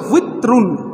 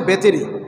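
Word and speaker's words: وتر: বেতের নামাজ পড়ি না এটার আরবি উচ্চারণ হচ্ছে উইত্রুন ওয়াও তা উইথরুন অনেকে বেতের শুনতে শুনতে মনে করছে এটা বেতেরই আসলে বেতের না এই ভিতর শব্দের অর্থ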